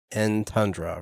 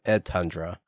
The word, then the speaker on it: Entundra: so I'm uh want to make sure I'm pronouncing the name right it is in tundra right in tundra yeah that's just some people